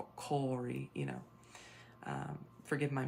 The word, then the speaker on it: Kári: So it looks kind of like Kari, but it's pronounced more of Kári, you know.